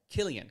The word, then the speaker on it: Cillian: Cillian Murphy? Is that isn't how you say it? Killian. Killian Murphy.